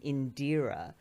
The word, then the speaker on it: Indira: You know, I didn't really realize until I started broadcasting and I would say my name in deer and the bit of my name that people would connect with or recognize was the deer.